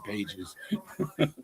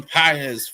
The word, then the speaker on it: Pages: I'm I'm so tempted to honestly say Andy Pages, but that's not how you say it. Andy PZ for the Dodgers as well.